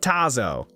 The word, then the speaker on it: Tazo: it with an R I did not Tazo Tazo like Tazo t t a z o Tazo T there's no R in there Etc kid has